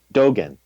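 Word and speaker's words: Dōgen: And Dogen, is that the way you say his name? Dogen, thank you.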